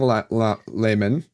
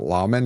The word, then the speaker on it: Laman: Tarangale's the nephew of King Layman. I'm so glad they said Layman because that's how I pronounced it, and everyone else was pronouncing it Laman, and I was like, that sounds stupid.